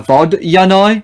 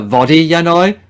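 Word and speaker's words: vodyanoy: So basically, it's supposed to be a Vodyanoi, not a Vodiyanoi.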